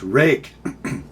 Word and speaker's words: Ruike: Next up, my buddy Pastor Kevin Cleary taught me how to say this brand name. It's Ruike.